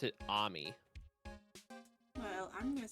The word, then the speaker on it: Ami: So the the way official pronunciations I've heard is it's they pronounce it Ammy. Well, I'm going to say Amy.